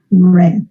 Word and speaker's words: read: in past, So you have to pronounce read. red.